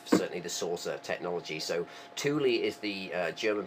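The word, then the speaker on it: Thule: made so um it's the Germans pronounced it Tuli I believe um it's and that's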